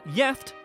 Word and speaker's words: gift: One Swedish word that is spelled the same as the English is gift, but is pronounced jeft and has 2 separate meanings, the first of which means married.